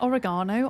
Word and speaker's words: oregano: Say oregano oregano. That's how us Brits say it. You say it completely differently.